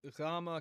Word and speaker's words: gamma: So, uh I represented here with the gh. Now, contextually, gama can have different pronunciations. Put my glasses on. Um and we're going to find that sometimes it's going to have a y sound as well.